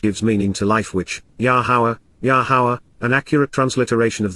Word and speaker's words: Yahweh: God, in conjunction with, Im, together with, Yahweh, Yahweh, the proper pronunciation of the name of Yehovah, our Eloah,